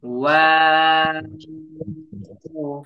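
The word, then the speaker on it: واو: ঠোঁট একদম গোল হয়ে যাবে। ওয়াও, এভাবে হবে। ঠিক আছে, ঠোঁটটা এভাবে হবে। যখন আমরা ওয়াও উচ্চারণ করব, প্রথমে ঠোঁটটা পুরোপুরি গোল হবে, তারপরে ওয়াও বলার সময় একটু ফাঁকা হবে, আবার গোল হবে।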